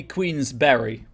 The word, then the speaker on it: Queensberry: do this uh yes it is supposed to be queen's berry b-e-r-y as in you know the food uh i would suspect that